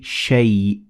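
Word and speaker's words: شيء: Now, as you can see, the alif in shay, it is written, but it is not pronounced. So we say shay.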